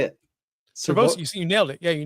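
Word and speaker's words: Sirvocea: Servosia.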